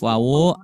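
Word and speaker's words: و: Jadi pengucapan untuk huruf wawu harus diawali dengan menggabungkan kedua bibir ke depan ya.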